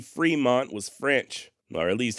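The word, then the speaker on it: Frémont: an acute accent and when there's an acute accent over the letter E in French is to indicate that the vowel should be pronounced as an a sort of like cafe or puree in other words the correct pronunciation of Fremont in at least if we had a damn time machine the way that he and his father would have likely said the name is Fremont not Fremont and not front like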